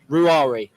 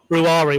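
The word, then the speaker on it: Ruairi: for mcconville's first name ruari ruari why do we have to get that right I'm told his mom gets a little bit upset if if people call him Rory so it's ruari okay definitely don't watch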